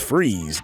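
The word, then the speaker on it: Fries: Now, Victor Freeze, pronounced Freeze, get it, was painted as a sympathetic character who was only trying to save the life of his beloved wife, Nora.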